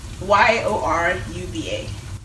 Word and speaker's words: Yoruba: Y-O-R-U-B-A. Yoruba. Okay. So it's Yoruba. So the proper pronunciation is Yoruba. Okay. And it's usually like said very quickly into Yoruba.